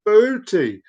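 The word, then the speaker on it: Boötes: Boot constellation, pronounced Booty. Oh, actually, no, it's pronounced Booty. I actually wasn't far off.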